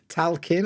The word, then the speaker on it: talking: Talking, okay, with the L.